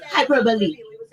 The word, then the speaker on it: hyperbole: Yeah, I mean, For example, I'm Caribbean. We would say hyperbole. It's still hyperbole. It's not Okay. hyperbole.